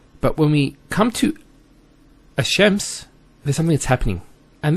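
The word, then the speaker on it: الشمس: So it's Ash-Shams, not Al-Shams. Because notice when you say Al-Shams, it's not smooth. Rather than Ash-Shams, which flows and is nicer to hear.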